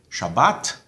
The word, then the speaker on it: Shabbat: So, in, for example, modern Israeli Hebrew, you say Shabbat, and you say minhag, Siddur, emphasis on the last syllable.